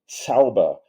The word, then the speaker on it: Zauber: So the German most common word for magic is Zauber, and that sounds like Tsar with a TS at the beginning. It's spelled with a Z.